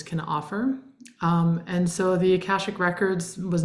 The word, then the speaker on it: Akashic: So it's Akashic records, like Akasha. cash, Yeah. like money, Akasha.